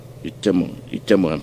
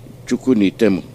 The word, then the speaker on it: Chukunitemu: Itemo, I beg your pardon, mispronounce it. It's Chukunitemu, MAZI Chukunitemu, Chukunitemu.